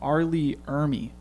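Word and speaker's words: R. Lee Ermey: down here exactly uh yeah arleigh oh no arleigh ermey that's how you say it um but yeah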